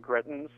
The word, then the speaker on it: Greitens: If you recall, Eric Greitens, I believe his name is pronounced, who is actually under 2 felony indictments currently.